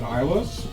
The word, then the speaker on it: Islay: So if you can point Isla on the main map, and then we can go to the next page.